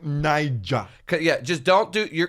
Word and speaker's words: Niger: give it a go give it a go Nigeria no no this is Nigeria okay I don't know anything about you it's spelled n-i-g-e-r my arm pictures how do you